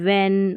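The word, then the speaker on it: when: तो यहाँ पर सभी में H जो है ना वो साइलेंट है, what, वीट, व्हील, वेन, वाइट और विच, यहाँ पर हमने H को नहीं पढ़ा है।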